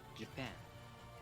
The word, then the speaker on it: Japan: means stress right yeah for example japan the stress falls on the second syllable so let's keep in mind by accident japan means something to japan for now in english